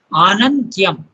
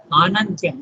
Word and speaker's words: Anantyam: But there is still further spiritual ascent possible into the unwalled infinite Anantyam. Okay? Note the Kiran, note the bar on the A.